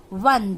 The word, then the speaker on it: one: Now one is O is an vowel again here, but when you are pronouncing, you pronounce it as one, W-O-N, one.